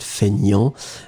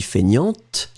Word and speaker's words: feignant: So, fainéant, but then we pronounce it feignant. And feminine form would be feignante. Remember, so masculine you don't pronounce the T, and then feminine form you will pronounce it.